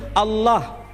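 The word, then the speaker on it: الله: Timur Tengah ketika menjumpai istilah alif lam lam ha dibaca Allah Tetapi mereka serempak menyebutnya dengan pronunciation Allah menyebut dengan sebutan Allah Allah ini tidak dikonstruksi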